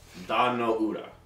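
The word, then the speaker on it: Dan-no-ura: um the Battle of Don no Ura that's how you pronounce it yeah I was like Don Ura from Star Trek um it was the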